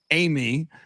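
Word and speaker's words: Eighmy: give it back utsa shannon uh yesterday taylor amy which is uh he's got an interesting name it's spelled e-i-g-h-m-y my understanding is it's pronounced amy uh released a statement uh which is written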